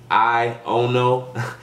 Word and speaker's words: Aiono: Aiono.